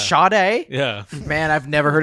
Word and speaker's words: Sade: by the artist uh I think it's pronounced Sade she made the song Smooth Operator oh shade shade it's shade yeah man I've never